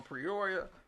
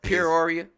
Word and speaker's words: Peoria: got Jason Jenkins from prioria por he say prioria you said it right no Peoria Peoria P Ora Illinois praise God is